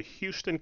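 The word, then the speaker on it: Hughston: Burleson, MD, of the Houston Clinic. Now, Houston is spelled H-U-G-H-S-T-O-N. Not Houston as in Houston, Texas. No.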